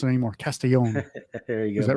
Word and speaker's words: Castellon: you how do you say it it's it's pronounced castillon yeah it's it's uh it's closer all right well I won't I won't mispronounce it anymore castillon there you go is that right that's perfect